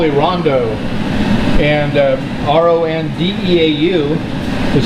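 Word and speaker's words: rondeau: This is called a rondo, and R-O-N-D-E-A-U is how you spell that, and that's a French, I guess French for hot.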